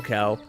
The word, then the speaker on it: Quell: you pronounce her name I think it's Cal Cal its qu e ll so I wasn't sure